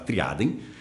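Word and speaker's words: tria eadem: tríplice identidade ou triadem, e esse adem é eadem, tá? Porque é em latim, então a gente não pronuncia a letra E quando está no início da palavra, a gente vai falar triadem.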